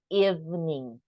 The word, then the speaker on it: evening: I think even evening we don't pronounce this e we don't say e e no e evening and be seed or